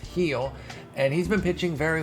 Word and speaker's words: Gil: name is louise heal looks like gil it's pronounced heel and he's been pitching